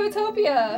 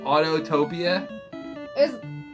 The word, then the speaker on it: Autotopia: So now we're going to Utopia. You mean Autotopia? You know that pisses me off when you say it wrong.